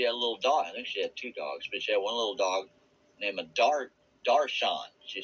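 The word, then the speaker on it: दर्शन: I think she had 2 dogs, but she had one little dog named Darshan. She said, well, I know that in Hindu, they pronounce it Darchan.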